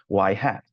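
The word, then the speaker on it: ŷ: use the nor clature y with the hat on top and we pronounced it as y hat and so we have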